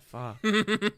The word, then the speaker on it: Pho: God, pho. Pho. F-U? F-H-O. F-H-O. Yeah. F-H-O. But it's pronounced Pho.